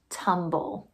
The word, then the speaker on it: tumble: First syllable's tum. T. Second syllable, bull. B. Ol. But I can't have a syllable without a vowel, so I've got to add an E.